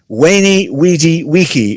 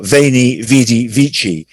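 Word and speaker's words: veni, vidi, vici: is reported to have told the roman senate wayney weedy wiki or vani vidi vici after his victory at which 47 bc battle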